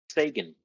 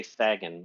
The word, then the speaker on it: Sagan: I don't appreciate how you pronounced Sagan there, Cheops. I will just say real quick, if the devs are listening, the balls on this man, after all three of you say it correctly, to then say Thagan was just astonishing.